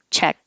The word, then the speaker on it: Czech: And the pronunciation of the short name of the country, Czech. Americans pronounce it the same as check, like check mark or write a check. And you hold the tongue in the K position, check.